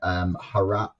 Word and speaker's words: Herat: that 50% of the female suicides were in Herat province. Is that how you pronounce it?